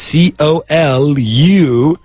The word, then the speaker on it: column: But in English, there is no vowel after the N. So it's just C-O-L-U-M-N. And of course, the pronunciation is column.